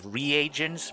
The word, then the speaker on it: reagents: Oh, it's pronounced reagents.